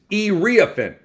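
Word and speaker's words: Iriafen: And I did a little research and it's irriophin. So the I the the I is and then ah and then Finn.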